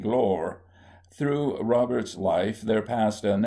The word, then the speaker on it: Gloire: At least he spelt it Gloire, but pronounced it Glore.